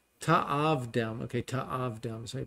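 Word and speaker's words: תַעָבְדֵם: Lo ta'avadem, that you are not, ta'avdem, okay, ta'avdem, so you pronounce it, you're not to serve them.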